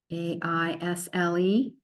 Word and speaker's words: aisle: A-I-S-L-E. Ignore the A. Ignore the S. Ignore the E.